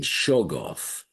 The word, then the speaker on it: Shoggoth: I always thought that the first syllable was emphasized as in Shoggoth, I think as in the Necronomicon, in the Surah, the curse page, Toglish Shogloth.